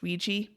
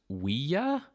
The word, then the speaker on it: Ouija: Cyrus actually is his son to be like, the name Ouija comes from the French word for yes, oui, and the German word for yes, ja.